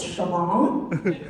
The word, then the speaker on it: Siobhan: like Len to me S turns out it's Shan San Jose not San